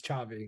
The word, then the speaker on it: Xavi: Xavi. Yeah, it's like Javier. It's like HXAV, but XAVI is Chavi.